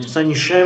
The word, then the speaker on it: संशय: और संशय में जो उच्चारण संशय य के समान है, संशय।